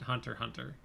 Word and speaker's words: Hunter x Hunter: You don't say the X. It's just Hunter x Hunter.